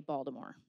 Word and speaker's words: Baltimore: DC Dallas Philly and Baltimore or if you say it correctly Baltimore a respected academic with